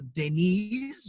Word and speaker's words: Deniz: to get into the terminology of turkish to denise is how you pronounce the mail and well name but we